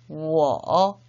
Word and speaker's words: 我: W는 U를 달리 표현한 거니까 我 라고 읽으셔야 되겠죠?